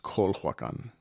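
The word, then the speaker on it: Culhuacan: in or built the city of kulhuakan sometimes spelled and pronounced kolhan i say settled in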